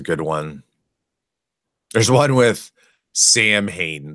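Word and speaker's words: Samhain: There's one with Sam Hain. They pronounce the character's name Sam Hain.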